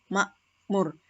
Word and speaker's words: makmoer: kita bisa melihat pada contoh kata Makmur itu akan ditulis Mak kemudian pakai apostrof kemudian moer gu ya jadi makmoer penulisannya seperti itu tapi pelafalannya Makmur Jadi bukan ditulis menggunakan k